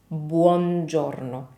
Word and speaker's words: buongiorno: make here is that if you take your time and you articulate every single vowel and you never skip any vowel when pronouncing Italian words, you will be halfway there with good Italian pronunciation. So remember, this word is buongiorno.